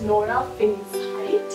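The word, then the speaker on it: Nora Fingscheidt: by the first time director her name is nora finns height and that's how you pronounce it um so she was a documentary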